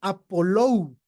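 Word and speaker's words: ἀπολούω: Bueno, entendemos que esto de estar lavados tiene relación en el Strong con el G628 que se pronuncia Apolou, lavados completamente.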